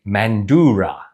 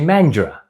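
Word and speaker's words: Mandurah: Most people who are not from WA, even Eastern status, would say mandura. It's actually mandra.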